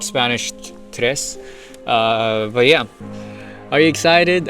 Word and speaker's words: tre: I always thought it was tri. Fuga 3 Sogetti, but no, it's tre. Fuga 3 Sogetti. Kind of a little bit like Spanish tres.